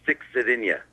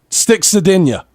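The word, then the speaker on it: Stix Zadinia: Listen, if you say it all together, it will stick in your head forever. It's Sticks Sardinia. Sticks Sardinia. Right, so think of it, like... Hold on, time out. Sticks it in you.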